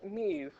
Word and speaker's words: mu: called me it's m it's spelled mu mu but we pronounce it Mew okay and that represents